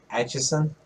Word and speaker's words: Atchison: my gosh this city is so hard to pronounce the acacia sun okay whatever it's in kansas atchison atchison yes i can't tell i just said